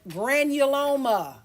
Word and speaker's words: granuloma: And if you look at the word granuloma, kind of sounds like granola.